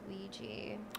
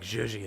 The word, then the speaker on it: Ouija: It's pronounced Ouija. Oh, okay. Yeah. I thought it was like zhuzhi, like Ouija.